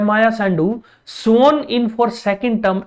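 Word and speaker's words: Sandu: तो बच्चों माया सैंडू, अब याद रखिए बच्चों अगर आप इंडियन है तो हो सकता है आप इसको संधू प्रोनाउंस करें, बट बच्चों संधू नहीं है, सैंडू है।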